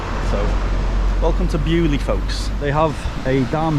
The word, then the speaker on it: Beaulieu: The reason I said Beauloo is because when you look at how it's spelled, it's l-i-e-u as in a day in lieu. But I've just asked someone in the town and it's called Beaulieu so welcome to Beaulieu folks!